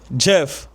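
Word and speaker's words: Geoff: What really separate worldclass performers from everybody else by GeFel pronounced G E O F co Jeff G E O FF.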